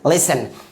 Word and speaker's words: listen: अगला example LISTEN, क्या pronounce करेंगे, लिसन।